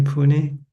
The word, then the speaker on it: Pune: Nita and Saget from Pune, India. Am I pronouncing correctly? Pune.